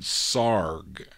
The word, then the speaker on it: Sarg: Is it Sarge? No, it's Sarg. You got to pronounce it S-A-R-G, the Sarg label, which is out of, is it Lulling, Texas or Luling, Texas?